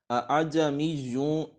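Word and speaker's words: ءاعجمی: حمزہ اعجمیٌ و عربیٌ، اب دوسرا حمزہ جو ہے نا اس میں تسہیل ہے، تسہیل واجب ہے اس میں، ٹھیک ہے، تو وہ اس کو نرمی کے ساتھ پڑھیں گے، اعجمیٌ، اعجمیٌ و عربیٌ، اعجمیٌ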